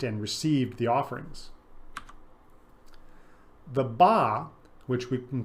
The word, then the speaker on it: ba: received the offerings the BAA which we can call the individual soul was another spirit soul sometimes depicted as a human with a bird head the hieroglyph itself pronounced ba is the picture of